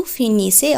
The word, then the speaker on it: finissent: ইল এল ফিনিস, ইল এল ফিনিস অর্থাৎ এই ক্ষেত্রে আমরা দেখছি অহ এন তে থাকছে কিন্তু তার আগে ই এস থাকছে এবং উচ্চারণ দাঁড়াচ্ছে ইল এল ফিনিস, ইল এল প্লুহিয়ালের ক্ষেত্রে ইল এল ফিনিস।